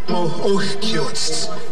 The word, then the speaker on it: Ohkiotst: Ohkiotst is how we pronounce that.